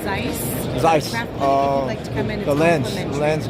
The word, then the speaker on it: Zeiss: It's Zeiss. Zeiss. The lens. The lens guys. Okay. Zeiss. Zeiss is here. That's how you say it.